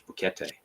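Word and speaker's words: Boquete: in Northern Panama called bokete it's uh it's like bouquet but it's they pronounce all the words so it's bouquete and yeah fantastic Place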